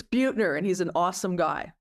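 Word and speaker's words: Buettner: Um, and by the way, you and your colleague Russ pronounce Russ's last name. It's Bututner, and he's an awesome guy.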